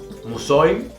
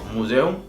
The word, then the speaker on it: Museum: La E y la U están separadas en 2 sílabas diferentes. En este caso, no se va a pronunciar Museum, sino Museum, por lo mismo, porque están separadas.